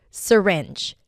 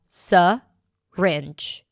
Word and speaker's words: syringe: Syringe. Sy-ringe. Or the first syllable can be reduced and pronounced as 'suh-ringe'.